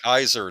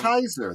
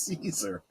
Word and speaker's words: Caesar: They would say Kaiser, not Caesar, which I thought was exactly. That's exactly right. Julius Kaiser. That's how it's pronounced, not Julius Caesar.